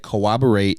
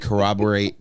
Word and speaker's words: corroborate: did not I yes I said cooporate incorrectly to accentuate how dumb you are and I said corroborate correctly to accentuate how much